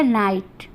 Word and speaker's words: knight: हमारा यहाँ हो गया नाइट। तो हम के को नहीं पढ़ेंगे।